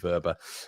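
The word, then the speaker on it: Wöber: I keep changing the pronunciation, Leeds United community, for some reason. I say Verber, I say Wober, but I'm going to stick with Verber.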